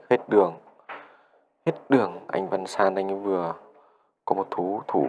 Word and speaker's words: Văn San: Một đồ đánh rất tự tin đến từ Văn Sơn. Văn San. Một cầu thủ nam tên là San. Tôi cứ đọc là Sơn.